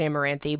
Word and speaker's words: Amaranthe: even pronounce this thing I'm pretty sure they they pronounce it amaranthe but we're just going